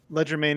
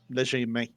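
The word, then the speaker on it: legerdemain: Ledgermane is how most English people say it. Okay. It's from the French, léger. Léger. Yeah, Okay. Léger. literally light hand. Léger main.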